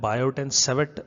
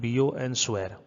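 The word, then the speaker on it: Biot–Savart: बायोट एंड सेवेट लिखा हुआ है लेकिन इसको प्रोनाउंस करते हैं बियो एंड स्वेर।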